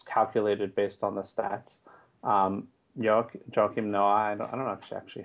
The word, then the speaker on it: Joakim: If it's probably his French father probably pronounces it Joachim. But I think everyone calls him on the radio Joachim.